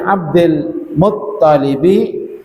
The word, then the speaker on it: عبد المطلب: Fi jabini Abdul Muttalibi, yang tasdid toknya ya bukan lamnya, maaf. Fi jabini Abdul Muttalibi wa ibnihi Abdillah.